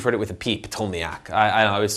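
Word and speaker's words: Ptolemaic: is stability now next told me AK told me AK the P is silent maybe you've heard it with a peep told me AK I always said I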